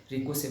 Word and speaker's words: ricochet: से उतना नहीं करेगा, इसको टकरा के वापस लौटने को रिको से बोलते हैं, RICOCHET, उसमें टी साइलेंट रहता है।